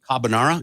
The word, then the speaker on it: carbonara: weekend I made pasta Cabernet cabanero is that how you say it carbonara yes that's the one and it